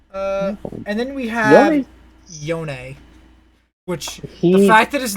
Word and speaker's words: Yone: and then he says yonei and i'm like oh he's just being weird goddammit ella's and then freak says uh his name is yone that's how it's pronounced and i'm like aha